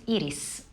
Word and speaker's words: Iris: It's pronounced Iris.